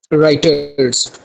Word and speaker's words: Reuters: सबसे पहले आता है जी राइटर्स। राइटर्स आप इसके स्पेलिंग नोट कर लें, REUTERS।